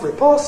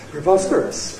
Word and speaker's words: preposterous: Yes, it's not prepos, it's preposterous. Preposterous.